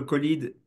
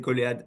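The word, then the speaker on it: COLEAD: Alors peut-être un premier petit mot sur le colide. On peut aussi le prononcer colé, ça dépend.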